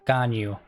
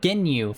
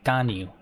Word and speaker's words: Ganyu: I always pronounce her name weird because I can never remember how they pronounce it. Ganyu. I always think Ginyu from Dragon Ball Z. Ganyu.